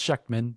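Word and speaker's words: Schectman: Uh, one is Andy Sheckchman, and I'll try to get the it's pronounced Sheckchman.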